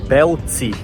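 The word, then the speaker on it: Bălți: do país estamos em belts se você procurar no Google Maps escrito com a mas pronunciado com e eu aprendi isso hoje e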